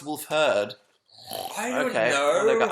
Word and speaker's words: Wolfhard: It's pronounced Wolfherd.